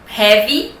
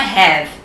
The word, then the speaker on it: heavy: Não vai pronunciar isso aqui como have. Não é have, é heavy. Porque tem um Y no final, quando você tem um Y no final, você precisa falar ele.